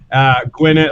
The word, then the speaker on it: Gwynedd: Gwyneth, like the double D sound is pronounced TH in Welsh, so it's that's why I said Griffith.